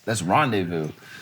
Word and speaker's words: rendezvous: And his girlfriend at the time said, "You idiot, that's rendezvous." But he was just mispronouncing it. He was as mispronouncing Rendisfus.